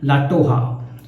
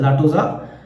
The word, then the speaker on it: La Toja: Classic legendary shaving cream लाटोहा। सो it's Spanish words, लगता है ऐसा है जैसे लाटोजा, मगर जब मैंने गूगल किया, प्रोनाउंसिएशन किया, तो दे say that it should be pronounced as लाटोहा।